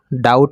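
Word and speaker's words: doubt: डीओएम बीटी कि डाउट इसको डाउट पढेंगे यहां पर भी साइलेंट रहता है तो इसको डाउट पढेंगे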